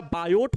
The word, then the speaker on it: Biot: ठीक है, vector form of बायो Savart law, बायो, अच्छा बायोट होता है, BIOT होता है स्पेलिंग में, याद रखना, बायोट Savart law, बायो Savart का नियम।